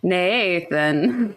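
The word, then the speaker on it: Neithan: So my husband's name is Nathan, but they spell it really weird. It's like Nathan.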